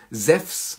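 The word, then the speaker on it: Ζευς: im Deutschen entstanden, also ihn spricht man normalerweise auch Zeph aus, also Zephs, also in dem Fall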